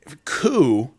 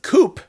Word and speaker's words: coup: It's spelled the same, but it's a French word, and in French, you don't pronounce the final consonant in letters.